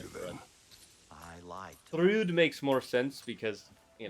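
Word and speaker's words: Thrúd: can't Apparently really- It's pronounced through. That's the heart. I did not Through. know that. I'm gonna Like say to Thread. them. I lied. Thrude makes more sense because, you know, Yeah.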